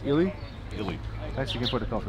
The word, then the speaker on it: Illy: Or pronounced Illy? Illy.